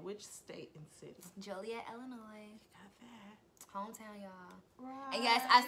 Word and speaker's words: Illinois: like people's con me yes I know it's pronounced Illinois but let me alone how mom has how